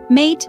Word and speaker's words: mate: for a mate tasting mate pronounced mate is more than just